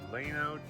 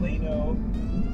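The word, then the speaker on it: Llano: Good morning, Leno, Texas. I think that's how you say it. It's L L A N O, but uh this is the little community park.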